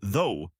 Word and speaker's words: though: Say though with a clear long o, and then thot with that aw sound.